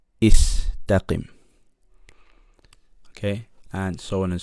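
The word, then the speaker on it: استقم: So the hamza has to be pronounced with a kasra. Istaqim.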